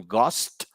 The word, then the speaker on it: ghost: Esa H no suena. Suena es la G. Okay, like for example, ghost and ghetto or ghetto.